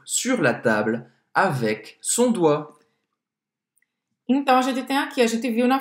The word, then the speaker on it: doigt: É cheio de letra, mas a gente só vai pronunciar como se fosse assim, doigt. Doigt. Não pronunciar o G e o T. E o T, exatamente. E ó, em francês a gente vai falar oie.